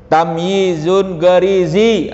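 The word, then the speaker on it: tamyiz gharizi: Tamyizun garizi, begitu bacanya. Tapi itulah yang disebut dengan tamyiz garizi, ya.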